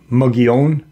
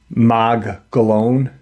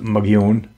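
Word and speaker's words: Mogollon: know um why what and the it's actually pronounced um mugon but the Caucasian pronounce it mag galone it's m o g o l l o n but it's pronounced mun um do you remember the cave paintings in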